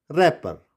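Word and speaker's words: wrapper: Good, and this is wrinkle and this is रैपर।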